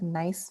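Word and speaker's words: gneiss: and this gives us nice foliation again pronounced like the word nice and here we have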